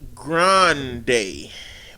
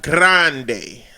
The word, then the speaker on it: grande: something like that two it's Grande but you roll the r like Grande like I would tell